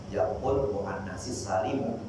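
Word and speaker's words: جمع المؤنث السالم: Dulu saya pernah dengar ada yang nanya ini, bacanya jamul mu'annasis salimu atau jamul mu'annasis salimi.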